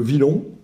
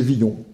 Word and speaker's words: Villon: euh de même que j'ai souvent dit euh Villon et c'est viillon et alors là euh